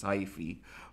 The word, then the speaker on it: hyphae: branching and non-branching filamentous structure so it is hyphae okay the correct pronunciation is High free but um it's for singular for plural okay